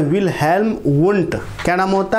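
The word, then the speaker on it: Wilhelm Wundt: मैं नाम लिख देता हूँ, विल्हेल्म, आधा लो है। ठीक है, विल्हेल्म, यहाँ पर भी आधा लो ही आएगा, मैंने पूरा लो दे दिया। विल्हेल्म वुंट।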